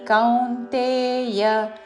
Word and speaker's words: కౌన్తేయ: महाप्राणक्षम भू भूतानी సర్వభూతాని కౌంతేయ క ఔత్వముతో దాని మీద ఆఘాత కౌంతేయ చివరిలో య హ్రస్వము కౌಂತయ అని దీర్ఘము కాదు కౌంతేయ సర్వభూతాని కౌంతేయ ప్రకృతే ప్రకృతే